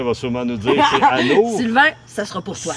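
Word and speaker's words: anoures: Anours avec. Ça s'écrit A-N-O-U-R-E-S. Ah, Anour, oui. Anours. S'il y a un E, faut que tu prononces le R.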